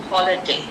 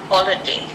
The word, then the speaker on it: holiday: So the stress is on the first syllable. Holiday. Holiday.